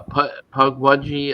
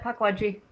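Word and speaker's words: Pukwudgie: Uh pugwaji. How do you pronounce that? You got it. Pwajji. Pug wudgy.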